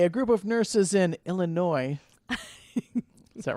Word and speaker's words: Illinois: A group of nurses in Illinois bonded a family. Did you say father. Illinois? I also say S is silent.